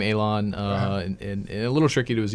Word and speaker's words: Eilan: at first you know pronounce it correctly but it for those i guess listening it starts with AE yeah yeah I LAN hashtag good there you